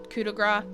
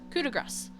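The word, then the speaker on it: coup de grâce: For years I thought it was coup de grace, and most people do. But technically, French pronunciation would make you say the C, but right there. So it's coup de grace.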